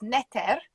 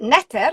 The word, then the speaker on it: neter: i thought the word the egyptian word for god is neter um i mean we don't really have an easy way of spelling it because obviously it's an alphabet but we tend to spell it n-e-t-r or just ntr they didn't have any vowels actually in the hieroglyphs but neter is almost the same word as nature isn't it yeah it's